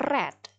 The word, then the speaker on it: read: kedua nya itu tetap seperti ini tulisannya happy bacanya The Reds jadi retret sedangkan kemudian ada lagi yang tidak